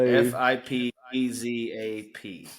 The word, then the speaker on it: FipeZap: Portuguese, which is spelled So it's a F I. VIP No, it's actually F. It's FIP E SAP ZAP. So FIPEZAP. yeah, exactly.